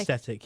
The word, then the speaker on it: aesthetic: Is it aesthetic or aesthetic? I thought it was It's aesthetic. aesthetic, yeah. Yeah. I don't know why you've added the extra syllable there.